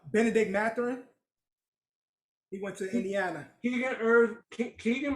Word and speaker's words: Benedict Mathurin: Benedict Mathurin.